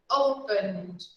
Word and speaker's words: opened: Open, opened. We just pronounce the D, okay? So we never pronounce the vowel E, never, never. We just pronounce open and then D, okay?